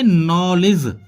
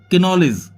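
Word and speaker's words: knowledge: No means जानना, जैसा KNOW LEDGE, यानी कि इसको बोलेंगे नॉलेज, ना कि किनॉलेज।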